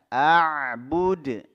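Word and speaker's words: أعبد: abiduna ma Abud ya Abud tadi sudah kita bahas yang pertama Hamzah kemudian ada Ain yang disukun kan a a buud ya Bud jangan dipanjangkan di sini tidak ada huruf mad thiinya Ma a'bud misalnya seperti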